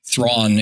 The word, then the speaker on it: Thrawn: word for twisted so Thrawn is twisted his adopt does not rhyme with my name and it's not at